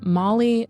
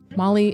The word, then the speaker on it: Mali: So this week, we hear a story from Molly Woods Drake. Molly is spelled M-A-L-I, and that is her real name.